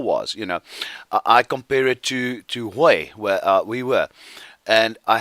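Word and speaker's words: Huế: We would spell it H-U-E-E. We would say Hue, but it's Hue. The Vietnamese way of saying it.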